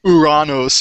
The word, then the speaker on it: Uranus: of the planet and pronounce it Uranus instead of Uranus or uranos if you want to be really Greek about it um but uh as